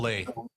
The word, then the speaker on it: Ole: It's His name's pronounced Ole. Olay.